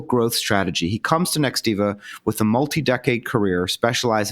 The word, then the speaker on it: Nextiva: first of all first of all did I pronounce the name of the company the right way yes it's Nextiva wonderful what does next Eva do so next